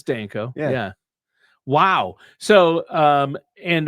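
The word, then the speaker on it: Danko: Hopefully I pronounced his name correctly. Yeah, it's Denko.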